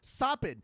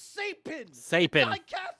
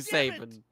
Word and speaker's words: Sapin: end that are going ah sappin. No, it's Sapin. It is absolutely sapen.